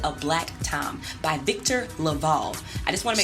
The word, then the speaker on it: LaValle: respect on his name by pronouncing it correctly his name is Victor Laval what did you do